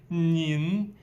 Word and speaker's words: 您: So let's add a 你 with a little heart in the bottom, which changed the pronunciation to 您. So 你 with a little bit nasal sound.